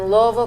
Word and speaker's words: Louisville: I grew up in Louisville Kentucky you have to say it like you have a mouthful of marble so you didn't grow